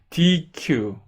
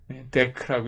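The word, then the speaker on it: deque: 여기 있고요 그 전에 dq 근데 dq라고 읽지 않고요 데크라고 읽어요 보기에는 dq 같죠 이게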